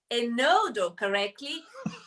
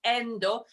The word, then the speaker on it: Enodo: but also on pronouncing a nodo believe it or not about 50 percent of of people say endo and i'm really tempted